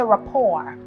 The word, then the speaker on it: rapport: a silent e here this T is silent when you pronounce this word you say rapport the report that I